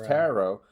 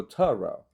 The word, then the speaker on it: tarot: reason, favor the French pronunciation, which is tarot, but because we're more relaxed in our vowels, often we go tarot. Well, maybe because any unstressed vowel in American English can be an sound.